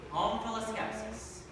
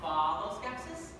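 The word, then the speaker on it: omphaloskepsis: Home full of skepsis. Yes. Can that also be pronounced follow skepsis? It could. It would be wrong.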